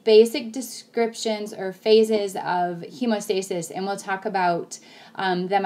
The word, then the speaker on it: hemostasis: Platelets are in charge of hemostasis, not homeostasis. Students mispronounce this a lot.